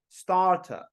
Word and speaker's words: starter: say Garden charge starter R is silent in British English I don't correct you